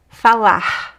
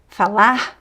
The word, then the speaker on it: falar: American r falar porta Uh but also at the end of words, many times they are it disappears, right? We just hear the vowel. Fala.